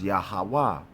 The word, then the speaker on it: Yahweh: So it's Yahweh.